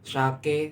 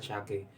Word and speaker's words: sake: Lah, hati-hati ya teman-teman, untuk sake sendiri itu kalau kita cuma pelafalan tidak dilihat dari hurufnya, itu ada dua, sake sama sake. Kalau sake itu kayak alkohol, minumannya beralkohol. Kalau sake itu ikan, maksudnya nama ikan di Jepang nggak buat kayak apa